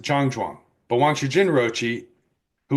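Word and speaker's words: 站桩: In Mandarin it is pronounced Jang Juang.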